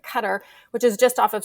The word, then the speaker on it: Qatar: go and live in Qatar which is most Americans will say Qatar but it's we don't really say it correctly either way but cutter which is just off